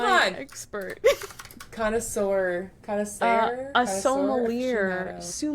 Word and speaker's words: sommelier: It's sommelier. Ugh. I looked it up and I made Google tell me how to pronounce it. Sommelier. I think it's French though, so it's spelt weird.